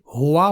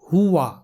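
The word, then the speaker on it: هُوَ: یاد رہے اسے بہت سارے لوگ مجہول طریقے سے ہوا پڑھتے ہیں جو کہ غلط تلفظ ہے. صحیح تلفظ ہے ہوا، ہوا، یعنی ہا کے پیش کو ہو نہیں بلکہ ہو پڑھنا ہے.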